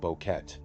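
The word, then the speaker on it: Boquete: After arriving in Panama, they eventually made their way to the small mountain town of Bokeet, which is spelled Bokeh in local records.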